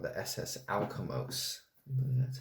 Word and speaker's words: Alkimos: So this one is about a ship called the SS Alkimos.